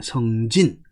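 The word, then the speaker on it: 星辰: 그 다음에 성진. 자, 요 성은 별성자에, 별성이니까 별진자로 해야 되겠죠? 왜냐하면 여기 별성 그랬으니까, 별진이라고 읽어야 되겠죠. 그래서 성진이라고 읽어야 됩니다.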